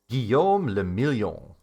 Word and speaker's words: Guillaume le Million: Guillaume le Million. Drama says, if it doesn't rhyme, you're not pronouncing it right.